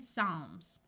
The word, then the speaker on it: Psalms: uses its second sound of c and in Psalms when a word starts with PT the P